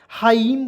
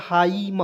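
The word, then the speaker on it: hymn: हाइम पढ़ेंगे, क्या पढ़ेंगे, हाइम, हाइम, ठीक है।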